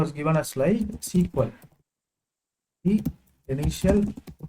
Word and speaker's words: SQL: language was renamed as SQL this is the right pronunciation SQL now SQL is not the correct pronunciation so what language do